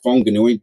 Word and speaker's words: Whanganui: living in my uh hometown uh wanganui which is now whanganui before any uh maori people were telling me i pronounced that wrong and uh we had